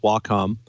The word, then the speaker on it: Wacom: double-checked Wacom is pronounced Wacom and it's derived from the Japanese symbol for harmony wah and the first syllable of computer come the tag of the